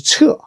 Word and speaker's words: 屮: Pronounced as 彻.